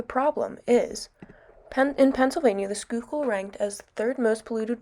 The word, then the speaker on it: Schuylkill: in the schuylkill river background information schuylkill is pronounced schuylkill and got its name which means hidden river